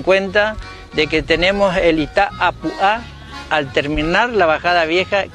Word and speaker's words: Itá Apuá: Hoy día se pronuncia Itapúa, pero la palabra real es Itá Apuá, piedra redonda.